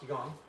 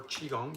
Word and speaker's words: Qigong: Yeah, I do know about Qigong, or Qigong, depending on how you want to pronounce it.